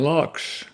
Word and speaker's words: Laux: Okay, this poem by Dorian Lux, and that's spelled Laux, is called Singing Back the World.